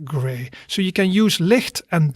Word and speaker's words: licht: talk about that something is light we say licht repeat after me licht okay good and then the last one that